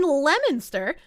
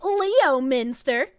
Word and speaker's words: Leominster: In Leominster, look at me, a Massachusetts lady, able to pronounce Massachusetts names. Not calling it Leominster.